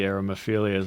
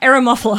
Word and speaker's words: Eremophila: Like a lot of the Aromaphilias, I'm like, You're a bit How too... dare you? Okay, you're not even saying it right. Eremophila.